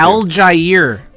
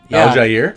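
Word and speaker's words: Allgeier: Al Jair. No, Did you know that? Al Jair? Yeah, Al Jair. That's how you say it?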